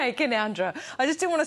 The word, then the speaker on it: Canowindra: Canowindra. That's how you say it. Okay, Canowindra.